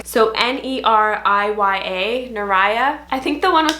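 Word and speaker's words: Neriya: So N-E-R-I-Y-A, Nariah.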